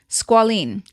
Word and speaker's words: squalene: Let me look this up to pronounce it because it's bothering me that I don't know how to pronounce. Ooh, okay. Squalene.